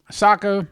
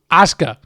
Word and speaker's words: Asuka: Um, but it had Ria Ripley, Tiffany Strand, Alexa Bliss, um, Asaka or no, I always say her name wrong. Asuka.